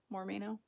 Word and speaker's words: Mormino: So it's Mormino. More me.